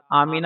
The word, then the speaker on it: آمنہ: رہا ہے۔ تاہم، بعض لوگ اسے میم پر فتحہ (زبر) کے ساتھ "آمنہ" کہتے ہیں۔ رسول اللہ صلی اللہ علیہ وسلم کی والدہ کا نام آمنہ بنت وہب تھا، اس لیے اس نام کا تلفظ میم پر کسرہ کے ساتھ "آمینہ" ہونا چاہیے۔ مفہوم: دارالافتاء، جامعہ العلوم